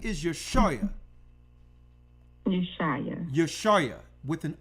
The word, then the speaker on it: Yashaya: His name is YASHAYA, Savior. You got it? Yes, Elder. Could you say that name one more time so I can try to pronounce it? Write it down. Pick up your phone. YASHAYA.